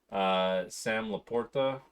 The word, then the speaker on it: Sam LaPorta: Sam Laporta, Mm-hmm.